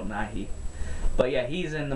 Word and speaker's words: Nighy: Bill Nye is a science guy. Bill Nighy is the British badass. I have British subscribers. I'm sure they'll correct me if I said his name wrong, but I believe it's Bill Nighy.